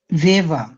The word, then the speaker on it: Weber: ভেভা, ফ্রাউ ভেভা, Guten Morgan ফ্রাউ হ্যাঁ, ভেভা। ডব্লিউর উচ্চারণটা ভি এর মতো।